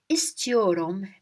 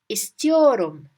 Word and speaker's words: istiyorum: The word istiyorum means I want. I want. So, Esther, I want you to clean your room. Esther, your room. Esther, your room. Your room, it's here. Your room. We just fix it a little bit, twist it. Your room, your room. And Esther, we twist it to ist.